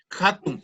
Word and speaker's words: hatun: Y la H no es como el castellano, la H muda, que sería atún, sino que es como el inglés. Se pronuncia hatun, que quiere decir grande.